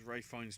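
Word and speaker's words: Ralph Fiennes: I don't know whether this counts as Ray Fiennes trivia, Josie, because it says his name rhymes with safe signs.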